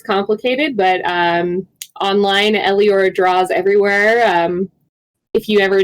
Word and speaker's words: Eleora: Hi, I'm Eliora. That is spelled Eleora. I know it's complicated, but online, Eliora draws everywhere.